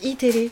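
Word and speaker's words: Eテレ: En fait, ça s'écrit E-TV et ça se prononce iTélé.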